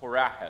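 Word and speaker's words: Horemheb: It's pronounced Horaheb.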